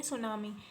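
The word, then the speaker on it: tsunami: है next refer सुनामी सुनामी की spelling क्या है thuan47 मिट्टी जो है वह साइलेंट होता है तो इसको कैरेट करेंगे सुनामी सुनामी A series of पोषण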